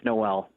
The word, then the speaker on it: Noel: worries no worries Craig it's Noel Noel all right thanks for